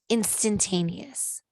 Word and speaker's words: instantaneous: She pronounced it. She spelled it. Instantanious. Instantaneous.